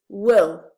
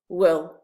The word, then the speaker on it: will: the pronunciation so it's will so the vowel is very short it's not real it's will negative form i will